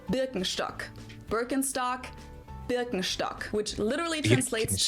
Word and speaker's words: Birkenstock: So, English speakers usually say Birkenstock. In German, I would say Birkenstock.